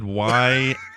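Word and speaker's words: guayusa: Did you spell it O-R-G-Y or something? Or No, I did WYUSA.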